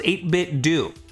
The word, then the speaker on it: 8BitDo: It's pronounced 8BitDo.